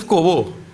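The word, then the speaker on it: corbeau: In this kind of culture, we condemn Kobo also. What to talk about eat meat? Once is a Kobo.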